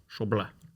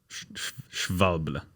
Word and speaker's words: Schwalbe: And a German guy messaged us on Instagram, and he told us it's Schwalbe. Schwalbe.